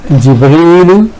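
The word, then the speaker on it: جبريل: Here we have, for example, Jibreel, Jibrilu, Jibrila, Jibrila. Jibreel is used in Quran and Jibrail is used in Hadith, so both are correct pronunciations.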